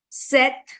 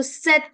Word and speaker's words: cet: So we have the tendency to pronounce the T at the end. Otherwise, et is A that we use for and, right? But here we pronounce the T because we have the rule of liaison that we call in French, right?